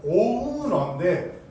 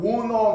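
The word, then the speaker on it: owner: 그러니까 회사 정확한 발음은 오후어인데 그니까 우리나라 말화돼서 그냥 오너 경영 오너 경영을 해요.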